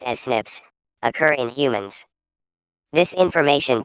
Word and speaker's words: SNPs: scientists have identified about 1.4 million locations where single base DNA differences snps single nucleotide polymorphism pronounced as Snips occur in humans this information promises to revolutionize